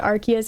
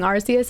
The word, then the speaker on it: Arceus: The hard C makes it sound like a classical Latin name.